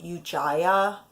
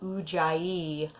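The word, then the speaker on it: Ujjayi: Jie and though I swear I learned to pronounce it u Jaya breath and I'm not sure what the origin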